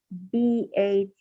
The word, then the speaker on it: bathed: So in this case, like I said earlier, that BATHED is pronounced as bathe. Why? Because the root word or the main verb or the infinitive form of the verb is bathe.